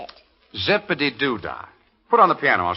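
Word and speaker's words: Zip-a-Dee-Doo-Dah: Zippity-doo-dah.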